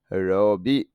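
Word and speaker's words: ロビー: তো রবি উচ্চারণ হবে রবি।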